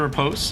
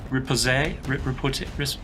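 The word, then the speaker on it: riposte: Dodge, but we got the repose. The repose. I know the E gets pronounced. I just can't say it.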